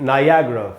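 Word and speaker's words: Niagara: अब इसको क्या सिखाते हैं अपने यहाँ, हिंदी मीडियम में बोलते लोग नियाग्रा फॉल्स, नियाग्रा नहीं होगा दोस्तों, इसका सही उच्चारण है नायाग्रा, नायाग्रा फॉल्स, ऐसे इसको पढ़ना चाहिए, नायाग्रा फॉल्स।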